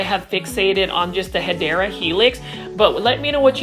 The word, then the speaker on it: Hedera helix: Now, I know we talk about the Hedera helix, or what you call the Hedera helix.